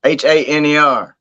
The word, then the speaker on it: Haener: Jake Haener, Haner. But that's how you spell it.